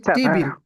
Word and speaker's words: টেবল: আচ্ছা তারপর হচ্ছে টেবিল। টেবিল আমরা যে টেবিল বলি এটার উচ্চারণ কিন্তু টেবিল না এটার উচ্চারণ হচ্ছে টেবল।